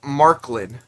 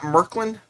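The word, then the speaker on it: Märklin: clown rail yeah so david zdg says it's marklin so it's not merklyn uh okay so let's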